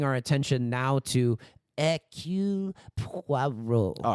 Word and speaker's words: Poirot: adaptations of Hercule Poirot, someone says his name like Poirot because it's spelled Poirot, and he's like, no, madame, you are supposed to form your lips as though you're about to give a kiss. And then he's like, Poirot.